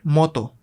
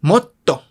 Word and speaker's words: motto: No es moto, es motto. Motto. Moto sin la consonante doble significa ex, como ex de exnovia, ¿no? De algo que era antes, pero ya no, ex. Pero motto significa más. Escuchen la diferencia. Esto es con una T, con dos T's.